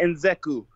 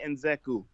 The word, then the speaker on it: Nzechukwu: Kennedy Nzeku. Kennedy Nzeku. Are you sure? I am sure. I just watched an interview on it. That's how he pronounced it.